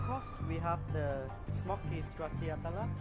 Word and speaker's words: stracciatella: For the next course, we have the smoky stracciatella. How do you pronounce the cheese?